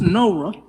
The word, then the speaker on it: Noah: A lot of the lyrics are taken from the Old Testament, so it tells the story of Noah, who is pronounced Nora.